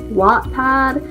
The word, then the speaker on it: Wattpad: two years now yes I know it is not pronounced Wattpad I think it supposed to be like walk pub but I have a really hard time saying that so wet pad it's gonna be but I've been there